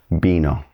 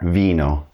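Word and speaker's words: vino: It's going to be pronounced like a very soft B like in the name Ben.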